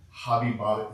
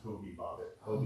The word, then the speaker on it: Hobie Bobbitt: So listen, I I say it wrong. Hobby Bobbitt. His name is Hobie Bobbitt.